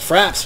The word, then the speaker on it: frappe: Fraps, man. Isn't that a frappe though? Well, if I'm not mistaken. It's F-R-A-P-P-E. Yeah, frappe. But it's not pronounced. It's French. It's just frap.